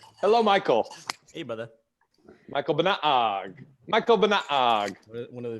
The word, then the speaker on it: Banaag: I love his name, Michael Banaag. McBang. He even does it right, like in with Tagalog, with Filipino, like the second syllable has to be pronounced higher. So that's.